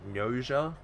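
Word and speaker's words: Gnosia: Uh I I I think you pronounce it uh like Noa. It's like G O G N O S I A.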